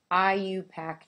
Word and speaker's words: IUPAC: ionic compounds so in chemistry we use the IUPAC name that's how you pronounce that and it stands for the international